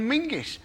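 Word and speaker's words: Menzies: a nonsense in fact you should pronounce it John mingis apparently it's to do with a defunct Scottish letter Zog you couldn't make that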